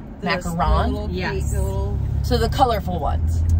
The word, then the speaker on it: macaron: is a completely different so yeah wait it's pronounced macaron macaron yes so the colorful ones the colorful cookies